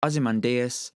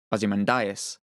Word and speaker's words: Ozymandias: I should point out that this name is also sometimes pronounced as Ozymandias, which is actually how I tend to pronounce it. Whether that's right or wrong, I don't really know, but anyway, Ozymandias